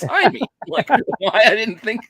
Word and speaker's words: Jaime: make me realize I've been saying his goddamn name wrong all these years Jaime yeah it's not Jamie Reyes it's Amy why I didn't think like I should have